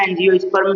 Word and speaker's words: एंजियोस्पर्म: तो इसको सीधा सधा एनज स्पर्म भी कहते हैं उच्चारण ऐसे ही कर दीजिए एन जी ओ एंजियो स्प ठीक है आवृत बीजी